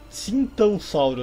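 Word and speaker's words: Titanossauro: É, Titãossauro, na verdade, a pronúncia.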